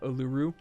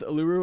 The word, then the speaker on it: Uluru: I think it's actually Uluru, if I'm correct. I believe it's pronounced Uluru, not Uluru. But like it is a desert wonder, and it's the best desert wonder, I think.